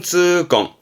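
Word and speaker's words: 痛恨: 통한. 발음은 쯔껑, 쯔껑.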